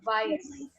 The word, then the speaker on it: weiß: So here you see that beta sign. And what I'm saying for that is weiß.